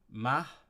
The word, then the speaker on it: math: big means small uh ma I MA it's spelled like math but it's pronounced ma that means good um